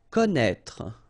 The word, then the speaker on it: connaître: Connaître. Okay, so you get this accent circumflexe on the top of E here, but then, well, you don't pronounce it, okay?